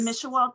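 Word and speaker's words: Mishewal: Mishawa? Yes. Mishawa tribe?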